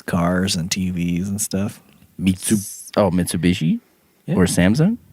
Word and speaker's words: Mitsubishi: Mitsubishi. Because they actually say it right. But Mitsu is 3, Bishi is diamond.